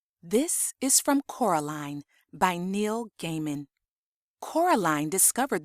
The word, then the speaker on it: Coraline: met her you see Caroline Miss said getting Coraline's name wrong both myself and Miss forcable were famous actresses in our time we trod the boards Levy it's Coraline not Caroline Coraline line said Coraline